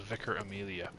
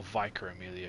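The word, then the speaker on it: Vicar Amelia: the next Story Boss is vicer Amelia or viker Amelia if you want to pronounce it that way that's entirely up to you I don't there's anything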